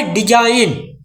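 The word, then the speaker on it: design: और डी ई एस आई एन जी यह का पढ़ी डिजाइन ना तक जी हो गई ना साइलेंट।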